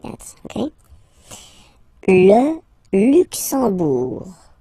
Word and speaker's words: Luxembourg: Okay, final G not pronounced, and then when you combine this M here, you get the sound en. You don't pronounce the M at all, it's this nasal en, okay?